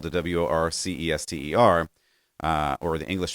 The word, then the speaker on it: Worcester: fan of pronunciation and the word worchester i have been reliably told you actually pronounce worcester or if you're really